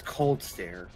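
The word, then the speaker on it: Kholdstare: His name is Coldstare.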